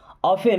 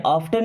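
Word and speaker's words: often: मतलब उसे देखते हैं ऑफेन अब यहां पे टी साइलेंट होता है इस वर्ड में ऑफ्टन नहीं पढ़ते ऑफेन क्या ऑफेन अफेन का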